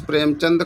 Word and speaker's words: प्रेमचंद: तो प्रेमचंद्र, दा में रा नहीं है, चंद होता, प्रेमचंद। ठीक है, point should be noted, important है क्योंकि हम लोग चंद्र पढ़ते हैं, चंदन है ना, इसीलिए अगर शुद्ध उच्चारण